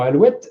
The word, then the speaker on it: alouette: Si on prononçait correctement de nos jours, on dirait alouette, mais avec un U seulement et non pas le OU.